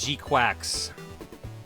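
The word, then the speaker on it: GQuuuuuuX: This is pronounced G-Quacks. G-Quacks. So anyway, Gundam G-Quacks. Yes, that's how you pronounce the new series.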